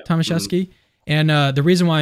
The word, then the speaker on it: Tomaszewski: Tomaszewski.